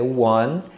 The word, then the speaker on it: won: Então o verbo win no passado é won. Então a pronúncia é igual do número 1.